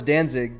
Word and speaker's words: Danzig: Is that how you pronounce it? Well, yeah, I know it's Danzig, but I don't listen to them because Are they German or something?